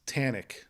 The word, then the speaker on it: Thanig: So the H is silent. So Thanig. Yeah. Right? Yeah. So the G sounds like a K.